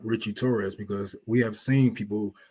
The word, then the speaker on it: Torres: And I wanted to ask you, besides your, I know that your opponent, Richie Torres, is that how I pronounce his last name?